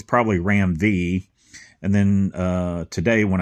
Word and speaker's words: Ram V: were telling me that they believe he pronounces his name ROM uh ROM V so anyway I'm enjoying